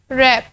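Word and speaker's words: wrap: रैप, रैप में हमारे पास आर से स्टार्ट होगा और डब्ल्यू जो है साइलेंट साउंड हो जाएगा।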